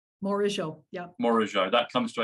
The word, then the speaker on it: Morigeau: MORIGEAU, yeah.